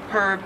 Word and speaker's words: herb: h and all and in australian english it is herb you do pronounce the h 38 is scone so